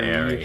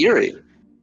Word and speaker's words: Eyrie: Eyrie? How do you say that? An Airy. airy. Yeah. It's an airy. Airy? Eerie. It's airy.